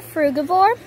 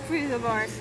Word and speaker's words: frugivore: It's called a frugivore. Yeah, they're called frugivores.